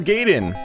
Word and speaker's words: Gaiden: So, man, I'm going on a tangent here, but yeah, that is Ninja Gaiden, guys, or Gaiden, if you want to say it like a 1989 kid.